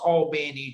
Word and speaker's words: Albany: procter gamble in albany georgia or as it's pronounced albany georgia because albany is in new york even